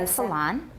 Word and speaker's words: epsilon: The first is based on the Greek letter epsilon and the Epsilon. Epsilon. Not long. Lan. Long. No, no. La n点的 n, lan. Long. Epsilon. Epsilon. That's an American pronunciation.